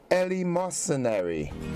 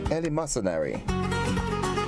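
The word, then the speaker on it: eleemosynary: other word for the day is the word Ellie mercenary Ellie mercenary it is spelled e-l-w-e-m-o-s-y-n-a-r-y it is an adjective and it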